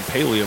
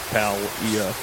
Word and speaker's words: Palia: Uh I don't I don't know how to say it because some people are saying Paleia, but there's no E in there. It's just Palia.